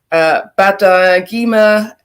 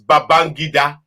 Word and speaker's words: Babangida: So General Ibrahim Badamasi Badagima, aka known as IBB. Tell me if my pronunciation is wrong. The ending name is Babangida. Babangida.